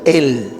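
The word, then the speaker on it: אל: Él se pronuncia así, él.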